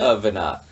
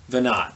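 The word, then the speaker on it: Veinotte: Well, no, it's just that the match between how it's written and how it's said are not the same at all, right?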